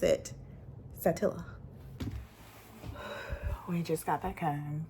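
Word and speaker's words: Saltillo: pronounce Pon talk Ponto Ponto how do you pronounce SAA Satilla Satilla Satilla not satillo when I worked as a high school counselor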